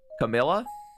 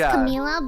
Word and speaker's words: Camila: Camilla? No, a lot of people do that. She wouldn't mind. Okay, I think it is Camila, but like a lot of people say Camilla.